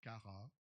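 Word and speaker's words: χαρά: Dans la Bible, le grec le grec du mot réjouir ou joie, c'est chara ou cara. On prononce pas chat.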